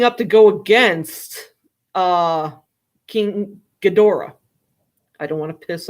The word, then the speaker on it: Ghidorah: Some say King Ghidorah. I say King Ghidorah.